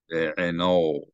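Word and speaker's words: בְּעֵינָיו: So I mispronounced it as be'eno. It should be be'enoi. So I'm going to say that a few more times to get it into my head. It's not be'eno, it's be'enoi. Be'enoi.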